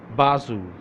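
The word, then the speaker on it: بازو: बी ए Z double O, Bazu. Let's come to original Urdu. Be alif ba, bao, Bazu. Be alif ba, zal, wow, Bazu. Okay.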